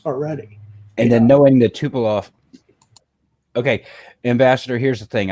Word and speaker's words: Tupolev: that bothers me because I'd love to know if it's actually Tupolev or Tupolov. I think it's Tupolev. I think it's pronounced Tupolev. Okay, well, L-E-V. Okay, L-E-V at the end.